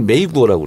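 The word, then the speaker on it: 美国: 미국을 메이구어라고 그래요. 메이구어? 미국. 그래서 미가 메이? 아름다운 미자가 메이로 발음 나고 메이. 국이 구어. 메이구어.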